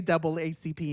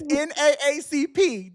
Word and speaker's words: NAACP: know that comedian, it's NAACP now. They're telling us we can't say doubleACP anymore. Yes. Spell it out. It's NAACP. That's what they're telling people.